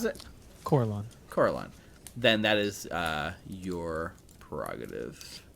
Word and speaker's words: Corellon: How do you pronounce it? Corellon.